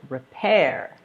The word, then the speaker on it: repair: Repair.